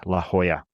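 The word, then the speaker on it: La Jolla: named La Hoya I finally learned how to pronounce it right La Hoya and that was reportedly set for 2027 again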